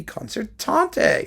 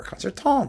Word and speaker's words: concertante: also known as Symphony concert tante or concert I mean you can pronounce the e or not it doesn't make any difference this is for piano